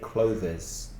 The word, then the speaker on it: clothes: I suggest you imagine the TH is a V, una V. So it's much easier, I think, for Spanish speakers to just say clothes. And it's much clearer than clothes. So clothes. It's more difficult to put your tongue between your teeth and make the sound of clothes, and also make it voiced from the throat. So just imagine a V there, clothes.